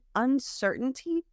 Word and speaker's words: uncertainty: un un certainty but the way Americans pronounce it we have that uncertain the glal stop um so it's have like uncertain if you're in the pronunciation master class or the program go to the master class with the t's again uncertain this is what Americans do for example for important Mountain it's a glottal stop and what that means